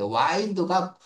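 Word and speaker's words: wind: 게임하러 PC방가 뭐 이러는 거죠.음 와인드라고 읽어야 돼. 와인드가 어 구비치다 뭐 구불구하게이 이런 느낌 이미 이제 와인드죠.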